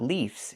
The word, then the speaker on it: leaves: But the plural form is not leaves. It's leaves. We use the letter V and pronounce it VV plus the S making a Z sound like in zebra.